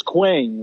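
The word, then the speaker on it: Qeng: on the avengers tower which is queen which is key q-e-n-g queen queen but here's the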